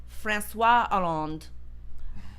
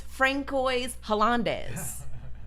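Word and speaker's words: François Hollande: his name is pronounced franois aland I thought that man's name was Francoise HZ why on Earth would they have so many of those letters if I'm not supposed to say them no just so so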